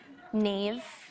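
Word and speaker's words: Niamh: Does anyone know how to pronounce that in the audience? How? Tig. Tig? Yeah. Neve.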